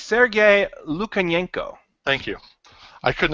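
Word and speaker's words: Lukyanenko: is a book series the rob could you pronounce the author's name for me absolutely keith its Sergei Luke and yank oh thank you I couldn't have said that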